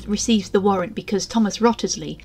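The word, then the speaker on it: Wriothesley: the warrant because Thomas rottersley I know there are many ways to pronounce his name like risely or Risley but I'll say it how I wish he knows that Henry's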